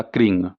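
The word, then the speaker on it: क्रीं: Cream या क्रिंग, दोनों में से कोई भी आप एक उच्चारण कर सकते हैं।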